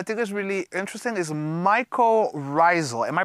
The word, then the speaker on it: mycorrhizal: Okay, and then there's the last term that I think is really interesting is mycorrhizal. Am I pronouncing that right? That's right, mycorrhizal.